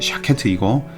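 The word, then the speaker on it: שָׁקֵד: 이 살구나무의 발음과 지켜본다는 말의 발음이 비슷합니다. 살구나무는 샤케트이고 지켜본다 혹은 살펴본다 라고 하는 말은 쇼케트입니다.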